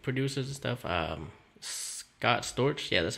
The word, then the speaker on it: Scott Storch: for like yo famous like producers and stuff Scott Storch yeah that's how you pronounce his name he's a he's produced like